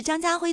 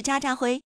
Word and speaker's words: 张家辉: 在自我介绍的时候，把我是张家辉读成了我是渣渣辉，因为口